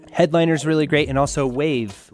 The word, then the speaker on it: Wavve: And Headliner's really great, and also Wave, which is spelled with 2 V's, WAVVE.